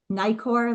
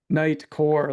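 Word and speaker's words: Nitecore: Bryan, are you saying Nikkor, like Nikon brand, or are you saying Nightcore? Nightcore, like Core. Yeah, it's spelled Nite Core.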